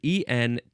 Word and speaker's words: entrant: Now, it's spelled E-N-T-R-A-N-T. That's the section that we are in. Entrant is how you say it.